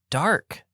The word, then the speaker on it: DARQ: games and it is called Dark spelled with a q in all capitals yeah I uh I